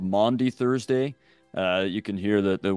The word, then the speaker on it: Maundy: I remember first hearing about it in college, and I couldn't figure out why they were saying Monday Thursday, but it's Maundy Thursday from the Latin word for commandment, mandatum.